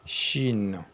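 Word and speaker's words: شين: Ensuite la lettre suivante c'est même c'est même forme que sin mais cette fois-ci comme il y a les trois points on lit ça chine chine et la 14e lettre voilà Là donc vous voyez ça avec un S.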